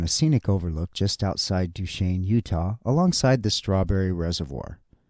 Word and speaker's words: Duchesne: this name duch Shain it looks like Duchesne or dzne on a sign but when hearing folks pronounce it duain I wanted to dig